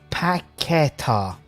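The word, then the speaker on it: Paquetá: It's pronounced Paqueta.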